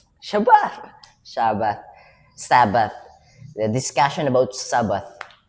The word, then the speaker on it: Shabbat: Shabbat Shabbat Shabbat Sabbath the discussion about Sabbath. Shabbat Shabbat mistaken that's the pronunciation in Hebrew.